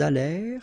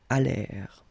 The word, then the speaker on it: allèrent: Ils allèrent, liaison, elles allèrent. And then this ENT at the end, you know, mark for the plural, well, clearly you don't pronounce it, so you get allèrent.